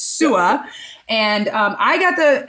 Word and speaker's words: Su'a: of you that are like how do you pronounce that awesome last name it's sua and um i got the uh pleasure of